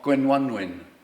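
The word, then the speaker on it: Gwenwynwyn: um they the mortimers have had to face uh the attentions i think i'm pretty sure of gwen one win the and and you'll all have to pronounce the name gwen onewin before you have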